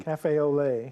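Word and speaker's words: café au lait: lot day how do you say that benny cafe olay olay day there you go random act of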